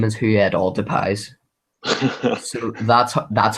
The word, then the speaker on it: Depay: I think Depay's going to add a lot.